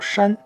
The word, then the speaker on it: 芟: 这个字念作山，它是除草的意思啊。